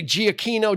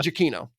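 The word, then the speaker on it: Giacchino: Michael Jackson because I was going to say GI Aquino giacinosano it's Michael jokino so he directed it and uh normally you hear him under music by Michael jokino yeah he's a very prolific composer of Television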